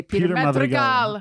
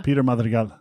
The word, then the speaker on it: Peter Madrigal: You'd say Peter Madrigal. Peter Madrigal.